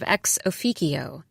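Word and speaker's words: ex officio: I found myself interrupting colleagues during meetings to correct their pronunciation of exoicio. It's Latin with a hard C, please.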